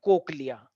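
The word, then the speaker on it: cochlea: गोल सा स्ट्रक्चर होता है कोकलिया सारे बच्चे बोले कोकिला बेन नहीं कि कोकिला बेन वो कहां है राची बेन जो भी ठीक है तो कोकलिया है कोकिला बेन नहीं कोकलिया कोकलिया कोक या स्पेलिंग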